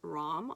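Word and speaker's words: ram: mantra for this one is rom r-a-m and i just want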